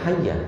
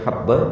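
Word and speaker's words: حبة: Tapi dia bacanya hayya. Kenapa? Harusnya habba menjadi hayya, tambah titik satu. Dan itu salah tulisan. Yang harusnya habba dibaca hayya.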